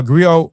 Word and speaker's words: griot: Uh Grio Griot is unique to West Africa. The Griot or Jelly professionally encompass many roles. agree I pronounce grio have been referred to